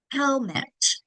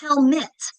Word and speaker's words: helmet: Helmet. First syllable gets the accent, second syllable unaccented in schwas because it's not helmet, it's helmet. And bucket.